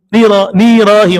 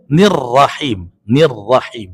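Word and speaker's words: الرحيم: Ada yang bacanya nggak tasydid. Bismillahirrahmanirrahim. Nirahim harusnya nirrahim.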